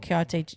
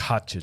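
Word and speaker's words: Cotija: the some chile sauce, and then uh crumbled kiote kyote cheese on top of the actual guacamole. That's katcha cheese.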